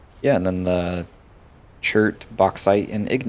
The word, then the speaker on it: bauxite: Well, it's pronounced bauxite. That's a good pronunciation for that.